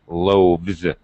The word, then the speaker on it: loaves: S it becomes loaves it turns into a V and the S pronunciation is like a z loaves okay but when I